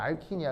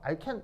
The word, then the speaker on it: 알킨: 반응물은 알킨이야. 그죠? 알킨이 아니고요. 알킨, 이 장모음. 알킨, 시작. 장모음, 알킨, 알겠죠? 알켄 아니야. 그죠? 그건 독일식, 일본식 발음이야. 알킨, 알겠죠?